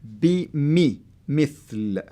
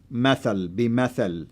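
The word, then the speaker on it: مثل: That's the kasra, and the kasra will help you to say it mithl. So if it wasn't there, you can say methal. Yeah. So so they avoid you pronouncing it the wrong way.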